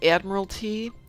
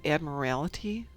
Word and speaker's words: Admiralty: Let alone Admiralty, which is pronounced Admiralty, not Admiralty. I don't know who says that.